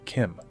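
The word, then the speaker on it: CHIM: the state known as Kim and yes it is pronounced Kim I know it deeply upsets me as well but the CH is pronounced as a k also before we move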